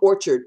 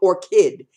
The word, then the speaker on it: orchid: orchard I said no it's pink orchid all are CH i D is or kid you have to remember the I I did when you see or kid Oh are chid its orchid like the flower and orchid she kept